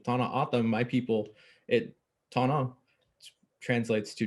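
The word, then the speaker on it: Tohono O'odham: And to speak to your point about your community, traditional pronunciation, Tana Atam, my people, Tana translates to desert, and Atam translates to people.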